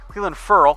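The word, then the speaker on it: Clelin Ferrell: Clemson defensive line is wheelin furrow which is actually how he prefers it to be pronounced like a girl come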